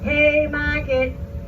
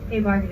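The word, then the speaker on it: Haymarket: To the right, past the little guard booth, is Hey Market. That's how they say it when you take the subway or the bus. Hey Market is the stop, and that's how they'll say it.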